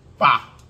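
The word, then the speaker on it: phở: the other day the proper way to say "fa."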